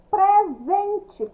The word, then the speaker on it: presente: Presente, presente, escrita com S, pronúncia com Z.